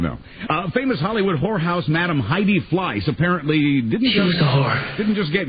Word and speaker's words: Heidi: Now, I don't pronounce the H. Heidi.